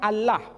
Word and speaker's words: Allah: Tengah ketika menjumpai istilah alif lam lam ha dibaca Allah Tetapi mereka serempak menyebutnya dengan pronunciation Allah menyebut dengan sebutan Allah Allah ini tidak dikonstruksi dari